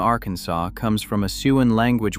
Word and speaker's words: Arkansas: American settlers argued about the pronunciation for generations until the state legislature officially declared in 1881 that the final S is silent. The pronunciation is not informal or regional. It is law. Calling it arensus with the final S